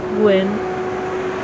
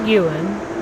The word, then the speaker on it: Guin: They usually say Guin, but it's actually Guin, with 2 syllables.